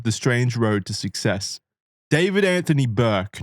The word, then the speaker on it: D4vd: David Anthony Burke, known professionally as David. That's spelled D 4 V D because everything's got to be extremely cool these days.